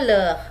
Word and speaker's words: leurs: Leurs itu tambah S, tapi dibacanya leh ya, tetap S-nya tidak dibaca ya.